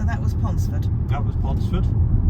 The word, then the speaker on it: Pontesford: That was Pontesford. Not pronounced, but written as Pontesford. It's Pontesford.